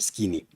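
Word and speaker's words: Skene: a name of skin, the way you want to pronounce skin or skinny.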